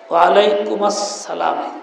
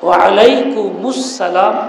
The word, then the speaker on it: ওয়ালাইকুমুস সালাম: আওয়াজ আসছে একটু ভিন্ন, ওয়ালাইকুম আসসালাম এরকমও কেউ কেউ বলছেন। আসল নিয়ম হল কুমাস না, কুমুস বলা, ওয়ালাইকুমুস সালাম এরকম বলা। কি বলতে হবে? অনেকেই কুমাস বলে, এটা ভুল, কুমুস উচ্চারণ করতে হবে।